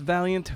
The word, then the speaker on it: Vaillant: on Twitter remember it's it's pronounced Valiant but it's spelled not like Valiant v a i l